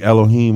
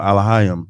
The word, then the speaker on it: Elohim: so that's how but God could be Elohim or Alim depending on what type of what dialect of Hebrew that you speak or elohenu yeah what